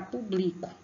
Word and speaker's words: público: Agora, pronuncia a palavra, aqui tá público, né? Mas é público. Pronuncia aí, vejam qual a sílaba que vocês põem mais força. Qual é? Público. É o pu. O acento agudo na vogal U, né?